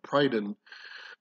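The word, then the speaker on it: Prydain: britain uh was uh prydon uh it looks like it's spelled prydane but again using the same uh pronunciation it's it's uh an on sound at the end and not an ane so that's why you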